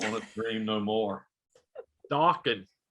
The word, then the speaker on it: Dawkins: Dawkins. That's right. Rhymes with rockin'.